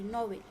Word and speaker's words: novelle: पहिला जो प्रकार आहे त्यात जो नॉवेल आहे त्याचं स्पेलिंग थोडंसं वेगळं आहे, दोन्हीचं स्पेलिंग वेगळं आहे पण उच्चार अगदी सेम आहे, NOVELLE. ठीक आहे, उच्चार तोच आहे, नॉवेल.